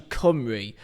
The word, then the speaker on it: Cymru: Sorry, it's actually not Cymru, it's actually Cymru, I think. That's how it's actually pronounced in Welsh. So I've been saying Cymru for what it looks like for the last my entire life. Apparently, you learn something new every day. This actually is pronounced like Cymru.